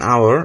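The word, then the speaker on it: hour: অ্যান আওয়ার, এখানে এইচ উচ্চারিত হয়নি, এটি আওয়ার, আয়ের মতো হয়েছে উচ্চারণ, তাই এখানে অ্যান হয়েছে।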